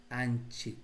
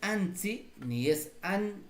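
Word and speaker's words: -nchik: Aquí añadimos el anchic, no te olvides. Añadimos el anchic. El sufijo es anchic, no es ansi este ansi. Tú puedes pronunciar sí, no gansi, no ganzi, pero el sufijo es anchik.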